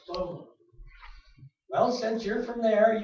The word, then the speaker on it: Sumer: Yesterday I referred to the ancient civilization of Sumer, which I've been calling Sumer all my life, and she went, Soma. And I said, what? And she said, Soma, it's pronounced Soma.